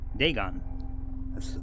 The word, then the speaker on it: Dagon: Dagon the fish God they gone that's how you say it okay that's another okay